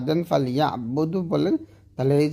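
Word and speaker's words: فَلْيَعْبُدُوا: যেমন ফাল ইয়া বুদু, দু তাকলিফ টান হবে, তবে আমরা পড়ি ফাল ইয়া বুদু, টান দেয় না।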